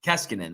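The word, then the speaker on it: Koskinen: kassiknen is that how you say it keskinen keskinen okay um i mean i'm just not impressed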